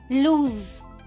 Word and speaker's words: lose: LOSE, इस word का जो एंड साउंड है वो है ज। लूज, लूज।